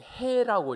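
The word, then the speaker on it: ה: 그래서 이 글자 가운데서 두 번째, 네 번째 글자인 이 해라고 읽는데요.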